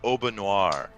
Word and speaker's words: Aubanoir: Oh, Or her name is Aubanoir. How the fuck do you spell that, Jacob? Obanoir. Very simple. I Oh. spell phonetically. Oh. Obanor. No silent letters up in here.